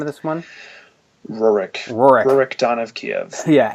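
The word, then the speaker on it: Rurik: is this the I the how do you pronounce the name of this one Rorick Rorick Don of Kiev's yeah and that one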